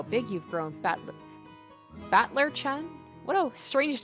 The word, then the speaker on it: Battler: japanese pronunciation so far the problem is my given name that is made of the characters for fight and person and it's pronounced battler put it all together